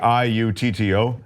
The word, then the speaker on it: Sciutto: I never knew how to pronounce his last name. That's how you say it. Sciutto.